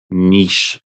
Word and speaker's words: niche: did you guys say in the states Nish or Nish people say both I say Niche but only because it rhymes with Rich and I can't say